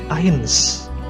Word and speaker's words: eins: Kalau huruf E ketemu I itu dibacanya jadi ini, I. Oke, jadi misal di sini ada eins, berarti dibacanya eins.